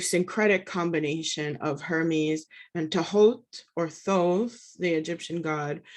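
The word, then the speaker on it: Thoth: combination of hermes and tahoe or those the egyptian god it's actually pronounced to halt but i think colloquially in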